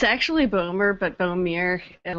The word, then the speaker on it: Bohmir: for the visionary minds podcast here with Bomi am i pronouncing that correctly it's actually boomer but boom ear and like boom ear okay well boomer Bomi